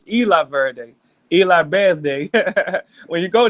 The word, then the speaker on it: Isla Verde: there's an area called Isla Verde I'm saying it wrong it's Spanish Eli Verde La birthday when you